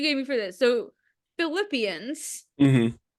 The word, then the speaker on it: Philippians: I want to say like it looks like Philippines. Philippians. Okay. That Philippines. wasn't as bad as it could have been. Wait, how do you say it? Philippians. Philippians. Yeah. So that sounds like Philip, Yeah.